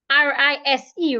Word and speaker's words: rise: S as in snake r i s e rise the S there sounds like Zed rise loose this is